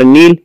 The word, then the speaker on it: النيل: النيل اسم لأن بها ألف ولام، واللام شمسية، اللام الشمسية لا تنطق، وعرفت لام شمسية إن الحرف اللي بعدها فوقه شدة، والحرف المشدد بحرفين، الأول ساكن والثاني متحرك. النيل، وتلاحظ أنه ثقيل في النطق، يعني تقول النيل.